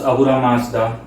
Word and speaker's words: Ahura Mazda: from the header uh I'm going to discuss ahura Mazda that's how his name is pronounced um long story short if you as